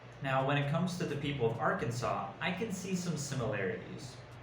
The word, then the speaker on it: Arkansas: think that it's pronounced arkansas or arkansas right but it's arkansas so you just pretend that the s on the end doesn't exist and as for food